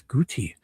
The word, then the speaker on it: Gootee: Goati would be one O. Two O's is guty.